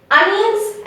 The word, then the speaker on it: onions: See in the spelling onions, you see the O over there and we say onions, right? But the actual correct pronunciation is instead of seeing the O, bring A over there. It's like A-H, A. And near N-I-O-N-S, bring N-Y-A-N-S. And you intermix N and Y sound over here.